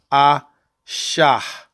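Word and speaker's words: אישה: makes the high sound so i sha will be the proper pronunciation for a woman or wife or daughter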